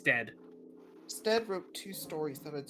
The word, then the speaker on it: Stead: 86 the other 92 de steeve it's dead stead wrote two stories that had striking similarities to